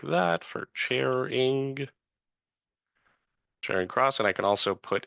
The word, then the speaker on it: Charing Cross: Chairing cross.